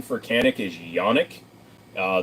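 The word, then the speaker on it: Canik: I heard people say janic uh the actual correct pronunciation for canic is yonic uh the J in Turkish is y so yanic um but people do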